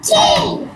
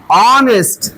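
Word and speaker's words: honest: ই ই এস এ অনেস্ট অনেস্ট এইচ চুপ চুপ চুপ চুপ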